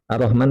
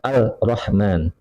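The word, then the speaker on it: الرحمن: Ar-Rahman kan diidghamkan Ar-Rahman. Kemudian dia tidak baca demikian, bacanya Al-Rahman.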